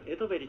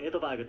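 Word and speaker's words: Edberg: 練習しました日本の一部の報道ではエトヴェリというスウェーデン語の発音を使って報道されているんですが私どもの放送ではジャンパイアの高度に習いましてエドバーグという英語の発音を採用させていただきます私この試合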